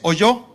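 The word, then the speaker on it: holló: ¿Alguien sabe lo que es oyó? No es de oír. H o l con acento en la vamos.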